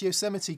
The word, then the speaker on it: Yosemite: G Barge says, Mick, you pronounce Yosemite correctly.